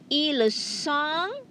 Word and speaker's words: ils sont: You have here, ils sont, elles sont. Remember, the T is silent, okay? And you pronounce like song, okay? Ils sont.